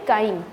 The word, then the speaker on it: chyme: उस पेस्ट को हम बोलते हैं काइम, CHYME, काइम प्रोनाउंस करते हैं इसको।